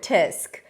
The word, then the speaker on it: Tsk: If you see the word tisk in a comic book or in a book, then no, it's a, this one is, You remember our friend Doug?